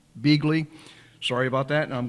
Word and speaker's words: Begley: her here so welcome to Detroit B Begley sorry about that and I'm glad to have you here did I pronounce that right you you you were close Bley corre Bley and I'm from Cork so